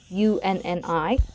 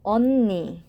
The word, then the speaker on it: 언니: And it's common to spell it Unni, but be careful, the pronunciation is not Unni, it's Unnie.